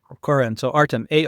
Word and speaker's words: Koren: It's his name is spelled A R T E M and then it's How do you say your last name? It's K O R E N. Koren? Yeah, Koren.